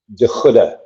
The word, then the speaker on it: de Goede: De Goede. So it's a hard G. It's Dutch.